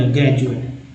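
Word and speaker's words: graduate: अब जैसे यहाँ देखिए ग्रेजुएट में डी को न ड न द बोला गया, डी को ज बोला, ग्रेजुएट।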